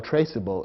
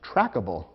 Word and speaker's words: traceable: And if you eliminate the silent E from traceable, the word might look as though it should be pronounced trackable, which would be incorrect.